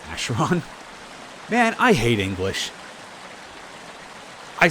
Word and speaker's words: Acheron: We pronounce it Acheron.